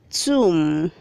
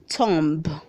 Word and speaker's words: tomb: Read 429 is pronounced tomb. Say tomb. The B is silent. Please don't say tomb.